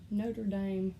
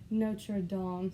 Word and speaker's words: Notre Dame: And this is, anytime I say it, I want to say Notre Dame, like the Alabamian that I am, but it's Notre Dame, so I'll try to say it right.